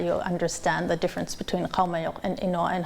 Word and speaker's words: Qaumajuq: And if you don't know how to pronounce it, you could click on it and you'll hear. Qaumajuq. Qaumajuq.